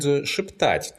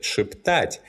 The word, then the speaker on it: шептать: The infinitive шептать is stressed on the last syllable. That's why, in the present tense, this verb has variable stress.